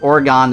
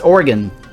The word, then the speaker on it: Oregon: It's Oregon. Oregon Trail. It sounded the same as a body organ. Yeah. Yep. Organ. Like organ donors.